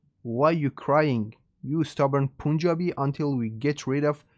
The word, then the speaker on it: Punjab: Even the word Punjab means, I think the correct pronunciation is Punjab, but in English they say Punjab.